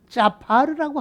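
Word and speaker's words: צֹפַר: 원칙상으로 정확한 히브리어 발음은 짜파르라고 하는 말인데, 수저의 얼굴이 생명의 머리로 얼굴로 바꿔져서 그리고 열매를 맺은 소발이라고 하는 얘기입니다.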